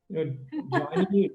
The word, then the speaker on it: Jani: Jani rhymes with Gyani, which is somebody who is very wise, and rhymes with Sangeet, which is music.